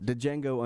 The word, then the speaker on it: Django: The D is silent, I think. Django Unchained.